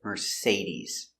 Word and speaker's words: Mercedes: merce mercedes z mercedes use a vibration with your z-sound mercedes mercedes mercedes the stresses on the sea mercedes mercedes we talk about cars we say uh would you like to buy a mercedes yes i would like